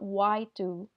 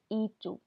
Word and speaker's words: y: to and you so the letter Y in Spanish is the word and and it's pronounced like the English letter e so this is not y 2 this is e 2 and then it's used